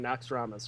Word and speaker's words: Naxxramas: We're cursing Naxxramas, whoever that dude is.